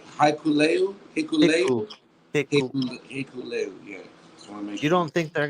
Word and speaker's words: Hikuleo: No, he's gonna come out with Hakuleo.